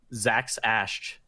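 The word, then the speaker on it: Zaxasj: can you spell it again I'll try to pronounce the ax a SJ Zach sash there you go that's the official pronunciation thank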